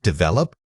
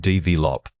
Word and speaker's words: develop: Wrong. Develop. Right, Dave Lop.